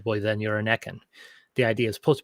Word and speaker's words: Ekken: Proper pronunciation for Ekken. It is Ekken. It's not Eken, it's not Ekan.